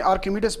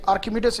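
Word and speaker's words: Archimedes: इसको इंग्लिश में आर्किमिडीज भी बोला जाता है, आर्चिमिडीज भी बोलते हैं मुख्तलिफ, लेकिन आर्किमिडीज इसका प्रोनाउंसिएशन सही है और उर्दू में इसको बोला जाता है आर्शिमीडस का असूल।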